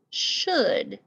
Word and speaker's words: should: it should be spelt sounds like it should have s-h-o-o-d right yes but the actual spelling is s-h-o-u-l-d so let's look at